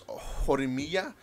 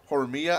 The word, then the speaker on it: Horimiya: And this is Horimiya. I'm making it sound like it's Spanish, but it's not. Horimiya.